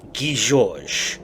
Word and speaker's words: Guy Georges: The correct pronunciation of his name is Guy Georges.